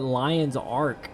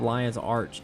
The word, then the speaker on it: Lion's Arch: say 55 monk and I always called it Lion's Ark instead of Lion's Arch even though I know I know it's I know it's Lion's Arch. It's spelled Lion's Arch but for some reason Lion's Ark sounds better to me. Doesn't make any sense to be Lion's Arch cuz it's literally a big arch.